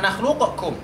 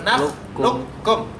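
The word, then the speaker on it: نخلقكم: berikutnya yaitu huruf Kaf jadi bacanya bukan nakhlukkum tapi naklukkum tapi sekali lagi di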